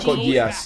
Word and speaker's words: Code Geass: that dreaded 2-2 How do you pronounce this? Code Geass? Code Geass, yeah.